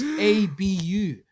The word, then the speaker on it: Abu: My name's got 3 letters. It's 2 syllables, bro. It's ABU. My name's Abu.